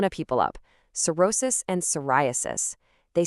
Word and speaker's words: psoriasis: It's cerosis and the other one is psoriasis. Notice that silent P at the beginning.